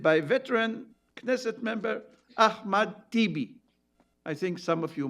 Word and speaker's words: Tibi: He's been in the Knesset for God knows how many years, 25 years at least, whose name rhymes with Bibi, Tibi, Bibi. Hence the slogan for a genius copywriter, Bibi or Tibi.